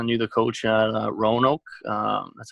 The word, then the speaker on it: Roanoke: and he kind of knew the coach at Roanoke.